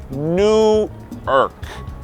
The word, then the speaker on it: Newark: E além disso, com Newark, a primeira sílaba é tônica. Newark. Com New York é a última.